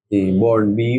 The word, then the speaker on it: born: I was born in বর্ন BORN, এখানে আর এর উচ্চারণ হয় না, জন্য বলে বর্ন।